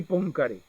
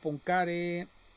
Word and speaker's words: Poincaré: los enseño de nuevo cálculo probabilidades de Henry pcare Henry pcare algo así se pronuncia en francés en la parte final bueno